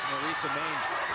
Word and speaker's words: Marica Maine: I said it wrong. It is Marica Maine.